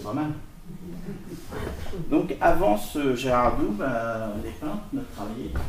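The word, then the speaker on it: Gerard: On prononce plutôt Gerhard, mais enfin, je connais pas l'accent flamand. En français, on dit Gérard.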